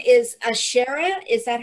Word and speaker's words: Anshara: am thrilled and uh your last name is ashara is that how i pronounce it i'm sure i'm shara onshara onshore it's the name i picked up after